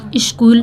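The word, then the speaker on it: school: हैं स्कूल ठीक है स्कूल का स्पेलिंग होता है मतलब सी एच एस के बाद जो है सी एच को पढ़ा जाता है ठीक है तो यहां पे क्या कहते हैं कि एच साइलेंट है स्कूल अ विजिटर कम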